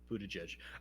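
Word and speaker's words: Buttigieg: have guessed that yeah it's mostly the g-i-e-g part isn't it i wouldn't have expected both of the g's to be pronounced j's buddha judge okay um but yeah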